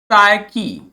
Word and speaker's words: psyche: ठीक है, ध्यान देना है, स्पेलिंग जरूर ध्यान देना है, क्योंकि जब बोल रहे हैं तो पी का कहीं जिक्र नहीं है, लेकिन जब लिख रहे हैं तो लिखते हैं PSYCH।